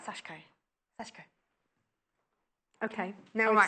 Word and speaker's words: sashiko: to say in Italian sashiko but you're pronouncing amazing you're pronouncing the I um but it's sashko so ignore the ey in it sashco sashco okay now we